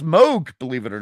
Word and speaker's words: Moog: I love, and it's actually pronounced Moog, believe it or not. Moog. Moog. So it's half O, half U.